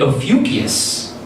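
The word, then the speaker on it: Ophiuchus: not in Sagittarius but and of beauteous the snake rhymes with mucus oh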